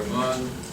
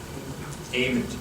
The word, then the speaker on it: Amon: Susan Daniels, we have Dr. Amon, and I'm not sure, is that the way you pronounce it? Amen. Okay, amen. Now we got it.